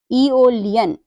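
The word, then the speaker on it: Aeolian: साथ आया हुआ है इसका जो प्रोनंसिएशन है वो क्या कर रहे हैं हम ई कर रहे तो क्या बनाए ओलियन ओलियन मतलब होता है वात हम अगला रूल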